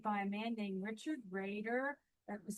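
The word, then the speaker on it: Roeder: shared with me by a man named Richard Raider. That was spelled R O E D R pronounced Raider.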